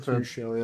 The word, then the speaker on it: Tuchel: Tuchel, is it how you pronounce him? Tuchel, yeah.